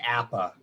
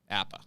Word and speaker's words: APAA: oppa is okay so it's it's uh we pronounce it appa but that's that's but i think a lot